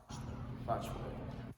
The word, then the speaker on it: Botchway: Botchway.